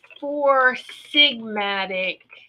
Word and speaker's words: 4 Sigmatic: All right, so I'm going to say it right this time, because I think I added a T in it last time. I said it wrong.